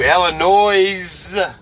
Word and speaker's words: Illinois: But as we're going through Illinois, oh, John Redmond taught me how to say Illinois. You got to pronounce that S with an extra S.